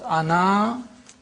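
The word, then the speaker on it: أنا: pronounced in the pausal form when you pause Ana you read the AL pronounce the alif but but then you don't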